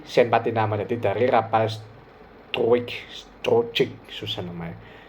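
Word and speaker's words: Struick: Jadi dari Rapal Strujic, susah namanya, Struik ya bacanya gitu ya.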